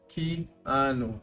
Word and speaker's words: Keanu: Keanu. Keanu. Yeah. Keano Ree. Gotcha. Yours, Richelle. Keanu.